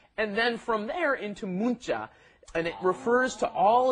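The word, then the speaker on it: 문자: our pronunciation is not munja okay you don't pronounce it that neon that comes right before it forces it into a hard consonant a tense consonant you say oh i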